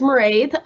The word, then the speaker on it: Mairead: Mairead, take it away. Okay, good morning, folks. So as Michael said, my name is Mairead. That's Irish. It rhymes with parade if you're wondering about the pronunciation.